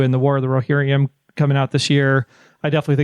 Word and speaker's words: Rohirrim: One, the War of the Rohirrim, did I say it right? Rohirrim, yeah.